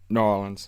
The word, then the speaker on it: New Orleans: But now, is that how they say it? Norins? Yeah. New Orleans.